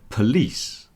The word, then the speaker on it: police: But then the word police, police, the stress has moved to the second